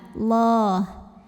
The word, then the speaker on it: Allah: Lam pada lafaz Allah dibaca secara tafkhim sebab huruf sebelumnya barisnya fathah. Maka bacanya ditebalkan. Allah.